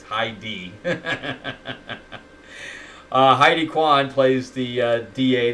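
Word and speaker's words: Highdee: character, but Heidi, and it's spelled H-I-G-H-D-E-E, so it's Heidi.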